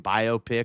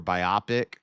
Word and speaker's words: biopic: I think that's a tomato situation, biopic or biopic. I think that's a tomato situation. You could say it either way. I'm okay with biopic.